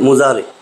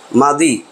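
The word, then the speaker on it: ماضي: বর্তমানরে বলে হাল আর ভবিষ্যৎরে বলে মুস্তাকবিল, এই দুইটারে একসাথে নিয়ে বানানো হয়েছে মুজারে। মাদি, মাদি বা মাজি, অনেকে মাজি উচ্চারণ করে, মাদি মানে অতীতকাল আর মুজারে মানে বর্তমান ভবিষ্যৎ একসাথে।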